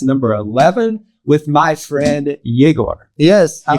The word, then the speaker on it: Yegor: the inverted podcast number 11 with my friend jagor yes I said my name right actually I